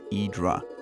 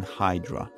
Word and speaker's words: Hydra: The name is derived from a Greek word Hydreia, which meant water back in the day, so the right pronunciation of the island's name is Hydra, rather than Hydra.